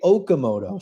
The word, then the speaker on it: Okamoto: and the rest say Okamoto. So guys, the correct pronunciation of Kazuma Okamoto.